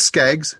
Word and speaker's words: Skaggs: It's Skaggs. Skaggs. Yep. Okay. Yep, and it's spelled like Ricky Skaggs, not Boz Skaggs.